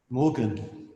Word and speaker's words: Morgan: Morgan. What's that? Morgan. Morgan? As in M-O-R-G-A, and the same as Morgan.